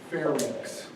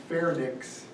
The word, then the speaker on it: pharynx: to somebody yesterday and the way you pronounce the second and the third anatomical part is fair mix and larynx it's not fairness and larynx if I hear you say fairness or larynx I'm going to get Larry to beat you okay thank you pharynx and larynx notice yeah that's really